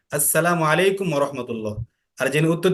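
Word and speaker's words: السلام عليكم: আসসালামু আলাইকুম ওয়া রাহমাতুল্লাহি ওয়া বারাকাতুহু। আচ্ছা, এখন শোনো, সালামটা যখন আমরা দিব তখন আসসালামু, মিমের পেশটা সঠিকভাবে উচ্চারণ করব। এরপরে আলাইকুম, আইনটাও ভালো করে উচ্চারণ করব এভাবে, আসসালামু আলাইকুম ওয়া রাহমাতুল্লাহ।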